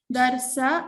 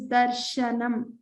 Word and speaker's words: दर्शनम्: darshanam this sha remember it's not darsa or darsha it is darshanam the middle sha मूर्धा